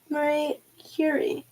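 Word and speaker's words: Marie Curie: Marie Curi. Oh my goodness, I totally butchered that.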